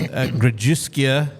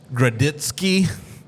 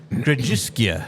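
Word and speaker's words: Grodziskie: CR the Cru yeah and it's just grusia is how it's pronounced if you're listening to this and don't have visuals um you might have seen this beer and called it a gritsky or gratzer yeah all of those are wrong it's pronounced grisia grisia grisia yeah yeah amazing I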